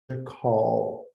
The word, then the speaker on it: call: Então, se tiver um L no fim, temos que dizer call. E temos que fechar o L, call. Então não podemos dizer call.